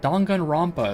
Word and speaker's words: Danganronpa: Danganronpa is also kind of a long game.